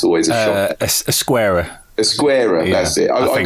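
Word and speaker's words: Ezquerra: But then I love this Geziera art. If I pronounce that right, it's always a shock. Esquerra.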